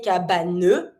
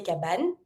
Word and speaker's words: cabane: So you're always going to avoid the E. You never say cabane, you say cabane, and you have the A.